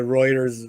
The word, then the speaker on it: Reuters: but yeah there's a Reuters uh article Reuters how do you pronounce that I think it's writers yeah uh us says